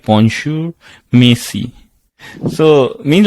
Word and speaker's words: merci: So when they're saying it was mercy, it is written as mercy, but you say merci.